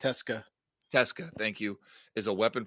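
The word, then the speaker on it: Tecza: Alex Texa, how do you say that? I think it's Teska. Teska, thank you, is a weapon for the mids, 163 yards rushing and a touchdown.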